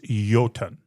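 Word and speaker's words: jötunn: The word translated as I understand it is yoten with a j o tu n but pronounced with a y.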